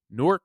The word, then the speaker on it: Newark: Midland Park, New Jersey, Newark, New Jersey, Roseland, New Jersey, and I'm pretty sure that it is Newark. That's how my wife's from up that way, and that's how she pronounces it.